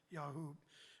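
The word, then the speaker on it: یعقوب: And in Farsi, they call it Yahub. They pronounce it Yahub.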